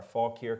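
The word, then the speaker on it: Fauquier: self Mark trouble and it's spelled f-a-u-q-u-i-e-r Faulk here County go fills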